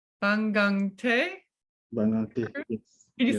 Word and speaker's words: Bangangté: and I want to make sure, I'm going to try to pronounce this correctly. Bangangté? Bangangté, yes. Can you say it again? Bangangté, Bangangté.